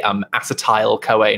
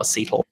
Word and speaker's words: acetyl: In the UK, we would say acetyl-CoA, not acetyl.